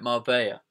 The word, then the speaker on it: Marbella: Marbella to go babe Mar it's a silent L well they don't tell you that so how would I know all right Mara I'm going to Mara